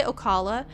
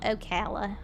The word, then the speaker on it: Ocala: They say Okala. I wanted to defend myself. In Florida, we call it Okala. Okay, it's Okala. So, I'm just saying it just how the locals say it.